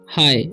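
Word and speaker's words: hi: पहला वर्ड है हमारा हाय इसे हम लोग पढ़ते हैं हाय ही नहीं पढ़ना ठीक इसे हम लोग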